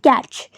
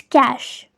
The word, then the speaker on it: cache: And many times I've heard people pronouncing this word as catch, which is wrong. It is pronounced as cache. Cache, and the definition is